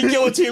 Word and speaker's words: guillotine: toilet swooping like, meat guillotine, my buddy! Guillotine! What'd I say? Guillotine. You guillotine? Said guillotine. Guillotine. There's two L's. What do you want? This is America. We pronounce our L's.